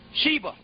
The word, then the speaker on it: Shiva: Shiva. Yeah, S-I-V-A, but it's pronounced Shiva.